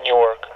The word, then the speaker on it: Newark: Newark się pisze, a czyta się Newark.